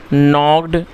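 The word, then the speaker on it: knock: दोस्तों के एन ओ सी के इसको नॉक पढ़ेंगे और इसमें जो के है वह साइलेंट है तो इसको के नहीं पढ़ा जाएगा और नॉक का मतलब होता है खटखटाना।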